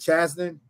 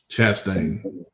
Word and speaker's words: Chastain: Um, Gavin, is it Chasten? Chastain. Chastain.